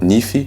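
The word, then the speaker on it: nify: La dent, nifi, N-I-F-Y.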